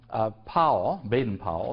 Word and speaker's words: Baden-Powell: So this is sort of shifting gears rather rapidly and talk about Robert Baden-Powell, it's the best way of pronouncing it, and the origins of the Boy Scouts.